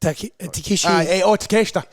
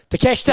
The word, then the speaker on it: Takeshita: Is it Takeshi? Takeshita.